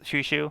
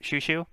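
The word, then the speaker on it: Chouchou: But yeah, it is pronounced Shushu. I believe it's like a French term. That's the influence for it. But yeah, it's pronounced Shushu.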